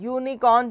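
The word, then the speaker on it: unicorn: की तरह दिखता है in this case the sound of द यू इज इन यूनिकॉर्न इज वाई यू not like you in umbrella अम है ना जब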